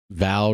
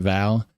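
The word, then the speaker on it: Waal: valley have a noticeable role in West Val River. That's how you pronounce it. Val.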